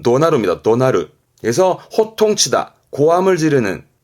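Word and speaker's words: 怒鳴る: 지르는 화내면서 호통치고 고함지르는 걸 말할 때쓰는 하는데 발음은 도나르 발음은 은 도나르 도나르 그래서 호통치다 고함을 지르는 잊지 마세요 호통 치 고함지를 땐 분노의 노자의 울명 붙어서 바람이 도나르 도나르 챙겨 주시고요 동사로는 오고르 흔히 화낸다 그러잖아요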